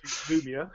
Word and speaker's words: Lumia: Lumia, yeah.